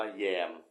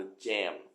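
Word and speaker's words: jam: ทา ขนม ปัง เนี่ย จริง ๆ ที่ ถูก มัน ต้อง ออก เสียง เป็น เสียง ตัว j ต้อง เป็น จอ จาน นะ ฮะ คำ ว่า เจมส์ นะ มัน แปล ว่า ลวง เข้า มา ร่วม ด้วย เข้า มา ทำ อะไร บาง อย่าง กับ คน อื่น ด้วย อีก ประมาณ นึง อ่ะ นะ แล้ว ก็ ที่ แปล ว่า ขนม ปัง ถูก แล้ว แต่ ออก เสียง แบบ ฝรั่ง คือ แจ่ม ข้า พูด ว่า แยม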